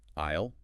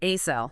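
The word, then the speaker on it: aisle: Isle. Isle. That s is totally silent. Just I a as in milk is inisle three. Not asil. Definitely not asil.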